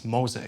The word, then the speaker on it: Moze: of troubles with pronunciation in Germany everybody calls it most and now it's mosa it's proper it's the proper word then we have Yannick